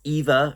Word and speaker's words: Eva: But this basically is about this girl, Eva, or Eva, actually, is how they pronounce it, played by Janine Mason